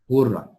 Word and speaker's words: ghurrah: Ghurrah cara baca dia ialah dengan bidhammil mu'jamah. Dengan ghain tu kita panggil mu'jamah, ada titik, ghur. Dan mentasydidkan ra. Wa bi tasydidi ra. Ra tu kena ada sabdu lah.